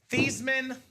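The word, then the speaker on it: Theismann: They said, "Joe, let's change your last name from Theman to Thyman." So we can say Thyisman for the Heisman.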